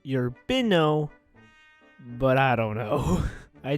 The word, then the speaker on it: Urbino: It's if I'm correct, it's pronounced Urbino, I'm gonna say it's Urbino, Italy. I could be completely wrong though, but I know for a fact it's not urban.